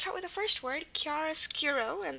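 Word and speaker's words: chiaroscuro: word Kiara skuro and the first sound we have is the C Sound now remember the C Sound at the beginning of a word can be either C or ch um there aren't that many with ch but if they are they precede an i and because we have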